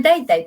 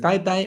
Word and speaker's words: だいたい: ¿Cómo lo pronuncias? Daitai, sí. Daitai, sí, va con D primero y Vale, después con T. es dai tai.